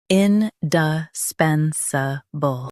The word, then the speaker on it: indispensable: Indispensable. Both US and UK have the same pronunciation of this word. Stress pen. Keep duh and suh soft. Indispensable. Indispensable. Stress pen. Keep duh and suh soft.